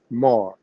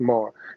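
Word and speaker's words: מר: today, but anciently at that time, Mishnah Hebrew, today, this Aramaic word is pronounced Mar. They give you the Hebrew way of saying it, but it's still pronounced Mar.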